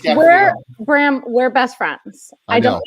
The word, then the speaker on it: Gaffalione: Drop the E. Just Gaffalione.